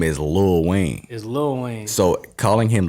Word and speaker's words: Lil Wayne: we make fun of him for his proper pronunciation again no no you want us he said little Wayne Lil Wayne Wayne who's not in Hollywood in me he's